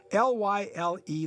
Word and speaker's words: Lyle: character actor Lyle Talbot, pronounced and spelled the same, L-Y-L-E, Lyle.